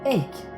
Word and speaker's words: Eyck: Sur la partie basse, Van Eyck a apposé sa signature.